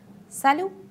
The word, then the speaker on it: salut: use the form salut I would like to pay your attention that t attend is not pronounced salut now don't forget if